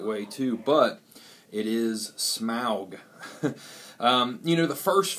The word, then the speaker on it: Smaug: smaug which uh some people want to say smog and i would think it would be pronounced that way too but it is smog um you know the first film you know